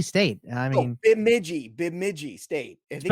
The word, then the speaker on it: Bemidji: Like, how do you spell Midgie State? I mean, Bemidji State. I think it's in Minnesota. Go ahead. Spell it.